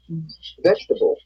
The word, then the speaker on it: vegetable: The vowel immediately after a stressed syllable is sometimes not pronounced. Average. Different. Separate. Comfortable. Interesting. Vegetable.